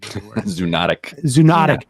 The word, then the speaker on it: zoonotic: Zoonotic.